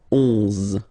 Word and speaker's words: onze: Okay, so O plus N give you the sound on, onze, onze. Okay, final E doesn't exist phonetically.